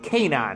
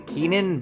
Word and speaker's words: Kanan: Also, it's Kanan, right? He's canonically okay with people calling him Keenan, but it's pronounced Kanan, I think, or Kenan.